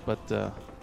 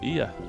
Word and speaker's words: Bea: Bia. Who some people... I won't say names, but...